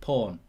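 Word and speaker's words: Paun: all remember number 17 i don't know whether you pronounce it like that but it's p-a-u-n porn um you might score a stonker there's all sorts of jokes you could have with that but you probably don't pronounce his name like that is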